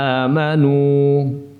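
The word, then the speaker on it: آمَنُوا: Innaman najwa minasyaitani liyahzunalladzina amanu. Innaman najwa minasyaitani liyahzunalladzina amanu. Amanu, amanu, 'nun' hanya dua harakat, beberapa siswa membacanya lebih panjang, tetapi itu lebih dari dua harakat.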